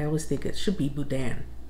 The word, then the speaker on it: Boudin: pronounce it here is Budin but I always think it should be Budan I believe it's a French name but that's how we